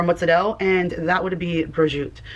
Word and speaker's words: prosciutto: So most people say prosciutto or broshooto. Those I Prosciutto? Are Are people saying prosciutto? Some of this has to be rage bait, right? You've heard people say prosciutto? That's pronouncing every letter properly, but the proper pronunciation of that is just broshoot.